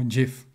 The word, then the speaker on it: GIF: And we have our first raster graphics format with lossless compression, and that's graphics interchange format, pronounced GIF or GIF.